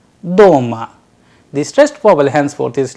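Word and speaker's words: дома: For example, in the word doma, doma, which means at home, the vowel sound o is pronounced with a greater force, doma.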